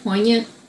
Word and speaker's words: poignant: is like so uh how do you pronounce it point poignant yeah for me to be able